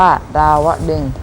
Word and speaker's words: ดาวดึงส์: ใจ ควร รู้ ด้วย คำ ว่า ดาวดึงส์ อ่าน ว่า ดาวดึงส์ หมาย ถึง ณ สวรรค์